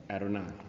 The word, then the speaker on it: Adonai: Now, how you pronounce Gary got his certificate in Hebrew, so he's going to help me with the pronunciation. It's Adonai? Adonai.